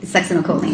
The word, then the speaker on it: succinylcholine: You pronounce it. Succinylcholine.